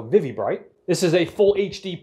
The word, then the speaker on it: ViviBright: the first to know I believe you pronounce the company vivvy bright VI VI bright so vivvy bright this is a full